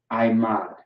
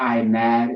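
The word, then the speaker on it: עמד: the rest right I I mod it's not I'm mad is I mod okay you have the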